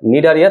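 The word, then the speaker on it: Cnidaria: আচ্ছা, নিডারিয়া তুমি যদি নামটা দেখো, নামটা কিন্তু সি দিয়ে শুরু হয়, হ্যাঁ উচ্চারণের মধ্যে কিন্তু সি নাই, বাট নামটা শুরু হয় তোমার সি দিয়ে।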